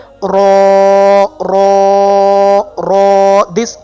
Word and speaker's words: Raa: So you can pronounce this letter by putting your tip of your tongue, you can see in this picture, your tip of your tongue with the gums of your upper front 4 teeth.